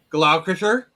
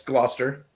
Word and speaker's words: Gloucester: uh all right let me um Leo lemonster glauer I was trying to like that's Gloucester okay I was I thought it looks got